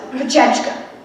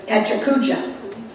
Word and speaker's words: Pecha Kucha: When the concept was first explained to me all of last week, I was told it was Pechechka. A YouTube video by an actual Japanese speaker assured me that it was Pecha Kucha.